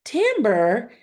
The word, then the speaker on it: timbre: color all right and it looks like Timber or Timbre but the way you pronounce it is tamber everybody say it with